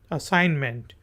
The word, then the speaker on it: assignment: जी इसमें जी साइलेंट है। असाइनमेंट असाइनमेंट कोई भी आपको काम सौंपा गया हो, तकवीज़ किया गया हो, उसको कहते हैं।